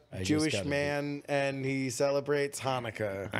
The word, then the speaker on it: Hanukkah: i ain't saying no chanukah don't say don't say it say hanukkah that's not how you pronounce it it's hanukkah okay yeah uh you